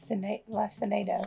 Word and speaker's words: Lacinato: How do you pronounce it? Lacinato.